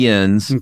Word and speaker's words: Jens: Is it pronounced Jens? It's definitely Jens, but it's also Jeb and not Yeb.